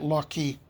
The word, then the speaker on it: Locke: By the way, the non-English speaking Chinese pronounced it Lock-Key.